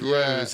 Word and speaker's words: Roos: Ed NL, who's basically correcting my pronunciation of Roos to Rose, which I think I did try to do that. Yeah, actually. He said you got it right, actually, Rose de Jong. That's because he's messaged us before and said Rose, as in Rose a boat.